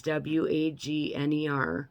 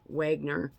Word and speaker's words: Wagner: called The Wagner group it looks like it's w-a-g-n-e-r Wagner but it's pronounced Wagner group okay essentially what this is